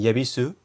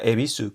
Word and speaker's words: Yebisu: Existía antes un símbolo que era ye, me parece, pero era como en yebisu, pero que lo pronuncian E. O sea, sabéis que la cerveza y la estación de tren se pronuncia ebisu, pero se escribe con